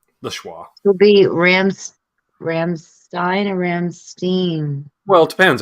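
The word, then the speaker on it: Rammstein: it should be fine Ramstein because that's how you pronounce e i in German that's how we say it I'm like all right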